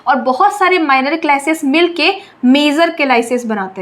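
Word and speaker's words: calyces: बोलते हैं पता है इन टिप्स को हम केलास बोलते हैं केलास स्पेलिंग ध्यान से देखो सी ए एल वाई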